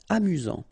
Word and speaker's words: amusant: You've got only one S here between the vowels, so it's really this Z sound. A-mu-zant. Amusant.